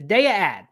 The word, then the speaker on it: Daiya: you wonder why I'm saying de instead of Dia like a normal person it's because in the ad the voiceover says DEA and we we did know I had heard